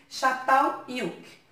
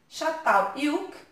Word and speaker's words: Çatalhöyük: Mas lá, na língua deles, Çatalhöyük começa com C cedilha, mas a pronúncia tem som de X ou CH, né?